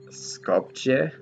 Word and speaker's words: Skopje: Skopje. I think that's how it's pronounced.